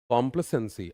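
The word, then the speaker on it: complacency: कॉम्प्लसेंसी स वाला साउंड है। यह इ नहीं आना चाहिए। और कॉम्प्ले प्ले पर जोर ज्यादा है।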